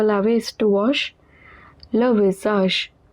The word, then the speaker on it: visage: Le visage, AGE at the end is always pronounced as age. S is in the middle of two vowels, it is pronounced as Z.